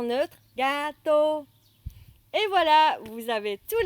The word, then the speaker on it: gâteau: Et enfin, nous avons gâteau pour dire gâteau. GA se prononce ga. Et tôt, comme tôt ou tard, il est tôt. T-O avec le O ayant son chapeau. Tôt. Accent neutre, gâteau.